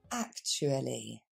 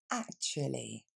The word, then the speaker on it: actually: On va s'arrêter 2 secondes sur sa prononciation. On va dire actually. Encore une fois. Actually.